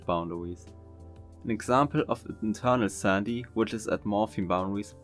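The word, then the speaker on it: sandhi: the vowel next Sandy yeah I think I mispronounced it earlier anyway Sandy I think that's how I pronounce it just means sound changes at morim or word boundaries an example of internal Sandy which is at morphing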